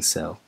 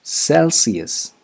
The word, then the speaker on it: celsius: of this episode is c-e-l-s-i-u-s celsius wrong if you don't mind me saying cell it's celsius celsius the third consonant sound is not sh it's celsius here's an example